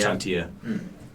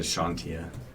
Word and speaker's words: Chantia: Chantia. Gotcha. Okay. I almost said Shantia. Yeah, close That's enough. pretty close. Almost said Chantel.